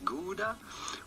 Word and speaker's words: Gouda: two really different pronunciations everyone around the world is going to say gouda which would sound normal to anyone around the world so that's kind of the normal standard way of saying it if you are not